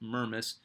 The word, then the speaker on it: Mermis: His name is a it's a very strange looking last name, but it is pronounced Mermis. I've cross referenced this like five times.